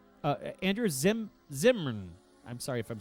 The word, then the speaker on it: Zimmern: is is pretty damn delicious uh andrew's andrew zimmerman used to say uh andrew zim zimmern i'm sorry if i'm saying it wrong you